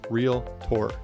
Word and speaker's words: realtor: of us that say realtor it's real tour two syllables that's plain and simple